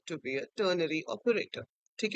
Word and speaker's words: ternary: Few people pronounce it as tertiary, but yeah, it's ternary.